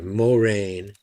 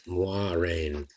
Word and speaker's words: Moiraine: Especially with the name Moiraine. I don't like the name Moiraine or Moraine. It's Moiraine.